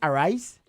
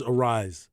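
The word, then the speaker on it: Arraez: uh most recent game is it Louis Aries how do you pronounce it is it a rice it is a rise it is a rise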